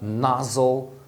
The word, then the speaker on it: nozzle: Olha com a letra O, a gente tem a palavra nozzle, nozzle. Na separação, a primeira sílaba termina em Z, que é consoante, então você vai usar o som curto do O, que é A.